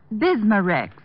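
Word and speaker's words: Bismarex: have to remember that bismar Rex is that how you say it that's right ma'am b i s m a hyphen re x bismar x ask for bismar Rex at reol drug stores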